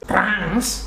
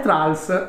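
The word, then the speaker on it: Thralls: Trans? No, è Trals, anche se si pronuncerebbe più tipo Trolls.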